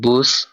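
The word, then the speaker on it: Bus: Next ওয়ার্ডটা বে দিয়ে, এখানে লেখা আছে বুস যার অর্থ জার্মানিতে বাস। এটার উচ্চারণ হবে বে, উ, এস, বুস। জার্মানিতে বাসকে বুস বলা হয়।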